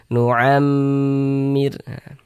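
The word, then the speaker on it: نعمر: Karena dia gunnah, cara membacanya itu digunnahkan itu ya didengungkan. Jadi suaranya itu kita tahan, kita panjangkan sejenak. Nu'am, di bagian nu'amnya itu yang kita tahan, kita panjangkan sejenak. Nu'ammir.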